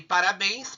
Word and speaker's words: parabéns: Então, olha aqui, parabéns. Por que acentuou? Porque a sílaba tônica. Bens é a sílaba tônica e ela está na última sílaba da palavra.